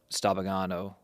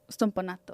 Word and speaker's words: Stompanato: Goes downstairs, grabs the knife, goes back upstairs, confronts Stabagano. Stompanato. Stompanato. I was like, you have to say it like stompato. Stompanato. Sorry.